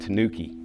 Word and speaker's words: tanuki: Here in the United States, it's often pronounced Tanuki.